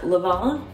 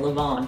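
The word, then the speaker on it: levain: for seven years and I still didn't know if I pronounce the N or not Leon Leon Leon just say it with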